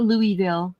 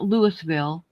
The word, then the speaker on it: Louisville: Um, I say Louisville the right way. It's not Louisville. It's not Lewisville.